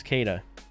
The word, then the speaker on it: Kita: I think it was Kada. Kita, but it's pronounced Kada. Like cat. Goes from bounce from one side to the other a little bit too much.